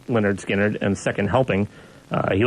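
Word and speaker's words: Lynyrd Skynyrd: mean those original out the pronounced Leonard skinnard you had Freebird on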